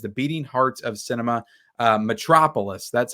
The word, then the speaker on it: Metropolis: Metropolis, that's how you pronounce it.